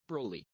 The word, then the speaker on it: Broly: Broly. You hear that? This is how you pronounce it.